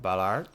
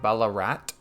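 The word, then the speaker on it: Ballarat: the new city of Ballard Ballard Bella rat I think that's the better pronunciation first thing these guys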